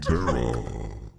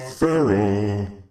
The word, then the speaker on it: Tara: It's Tiny Bean Terra. His name is not Farrah. Like faucet.